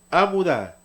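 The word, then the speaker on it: עמודה: Esta palabra se pronuncia amudá.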